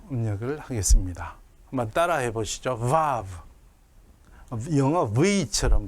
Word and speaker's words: vav: 영어에서는 워 이렇게 발음하지만 유럽에서는 v라고 합니다. 그래서 유대인들도 유럽에 있는 유대인들은 이 자음을 v로 발음을 하고 영미권에 있는 분들은 워라고 발음하기도 합니다. 그래서 이 이름을 저는 vav라고 하겠습니다.